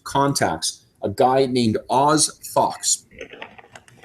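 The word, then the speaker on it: Phox: a guy named Oz Fox. Fox, incidentally, is spelled P-H-O-X because it's Star Wars.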